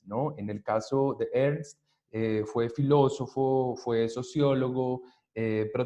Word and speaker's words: Ernst: No es Ernest, es Ernst Cassirer.